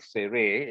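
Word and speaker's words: tsere: The sere here, look at the word sere, it's like 2 eyes, right? And stretch it as long as you can. Sere. Let's say together, sere. So it will help you to remember it's a long E vowel.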